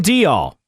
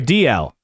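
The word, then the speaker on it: Dalziel: to say it yes Ryan Dall or sorry DL wow I already screwed up Ryan DL is the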